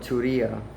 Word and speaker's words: Turiya: state of mind um and and it's called turia right you can do your research as well